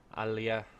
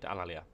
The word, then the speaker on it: Alalia: So as you can see, the Etruscans have Alea. Oh my god, my pronunciation's gone completely to pot. Alalia. That's right, Alalia.